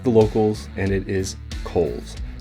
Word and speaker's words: Cowles: normally here this is cows but it's actually mispronounced by all of the locals and it is Kohl's like you're mining coal this Trail was about